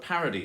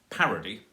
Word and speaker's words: parody: 3-syllable word like that, you can actually pronounce it 2 ways. You could say parody with all of the stress on the first syllable and then 2 unstressed syllables. Or you can pronounce it parody.